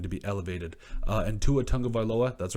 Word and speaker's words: Tagovailoa: And Tua Tagovailoa, that's right, I said it right again, because we love you guys.